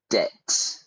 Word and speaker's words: debt: Debt. We don't pronounce the B.